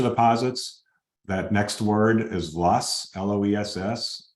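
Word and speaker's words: loess: that next word is Luss l-o-e-s-s it's a German word I probably don't pronounce it correctly but in Illinois all the soil scientists call it lust alluvium stuff from streams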